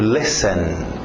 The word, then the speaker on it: listen: lá mas sem som é o caso do T Então imagina que não tivesse o t Len to listen to listen por isso